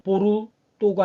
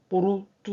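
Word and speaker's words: Porto: 장식했습니다 한 가지 더이 스페인어에서는 오를 오라고 읽지만 포르투갈에서는 오를 우로 발음합니다 우로 그래서 이거는 뽀르 또가 아니라 뽀르뚜 그래요 뽀르뚜 그래서 이것도 쌍 벤또가 아니라 벤두 벤두 근데 사실이 포르투갈은 그이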